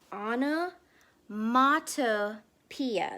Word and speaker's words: onomatopoeia: and just remember that when we pronounce that big big big word it's ana mata pia there's a t in the middle all right and this